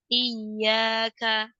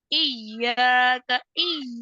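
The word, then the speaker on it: إِيَّاكَ: terdapat pada kata i jika di hurunya ya dibaca k lebihan maka akan menyebabkan suara huruf ya berubah menjadi suara huruf Jim i i itu kan kayak huruf jim I I dia tidak boleh menempel kalau berlebihan nanti khawatir Tengah lidahnya menempel ke langit-langit iya iya iyaka iyaka kalau dulu saya kayak gini banget iaka iaka gitu Dulu saya bacanya seperti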